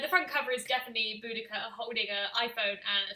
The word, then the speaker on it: Boudica: And the front cover is definitely Boudica holding an iPhone and a Starbucks latte.